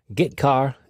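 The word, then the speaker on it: getchar: stream input and output the two most common c language character i o functions are git car and put car that's how i pronounce them git car fetches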